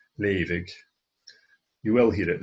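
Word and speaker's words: leughadh: A leavig is an untypical word in a way, in that the GH here is a V sound, leavig. You will hear it leig with a silent GH,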